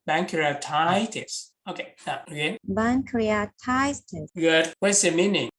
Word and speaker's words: pancreatitis: then one Korea titles pancreatitis okay when you make a stress syllable you you make it louder and a bit longer so bankruptitis you see pancreatitis okay okay what's the